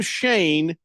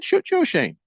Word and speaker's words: Schoen: a dumb name because it's spelled Schoen. You know, Shane. You get rid of all them unnecessary letters and just A-N-E. You know what I'm saying? Joe Shane. Just Joe Shane. I've heard some people say both.